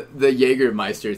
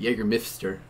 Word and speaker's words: Jägermeister: All right, so the Jägermeister thing, or is it Jägermeister?